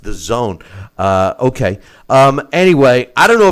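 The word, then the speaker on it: DAZN: in September on and it's pronounced the zone D AZN is pronounced the zone okay anyway I don't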